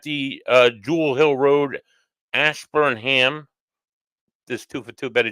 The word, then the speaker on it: Ashburnham: Ash Burnham Betty Joe I said it right Ash Burnham I was calling it all sorts of other